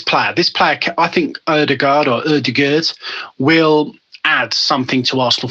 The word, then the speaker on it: Ødegaard: transfer window, is the loan signing of Martin Ødegaard, I believe it's pronounced. You can call me Martin Ødegaard.